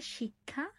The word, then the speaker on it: শিক্ষা: এটার উচ্চারণ হচ্ছে শিক্ষা, আর এটা হচ্ছে ব্রাহ্মণ বা ব্রহ্ম। তো দেখো এই উচ্চারণের ক্ষেত্রেও কিন্তু ভিন্নতা আছে। শিক্ষা, শিক্ষা এখানে আসছে ক স, আর এইভাবে যখন ক্ষিয়টাকে